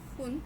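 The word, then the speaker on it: 分: तो पुन की कांजी, जो कि बुन, फुन या फिर पुन करके काउंटर है, ये दोनों तरीके से प्रोनाउंस होता है, फुन या फिर पुन।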